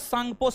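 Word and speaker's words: Tsangpo: ITSZ cost में Indus, सांगपो, Sachar, John. T silent है।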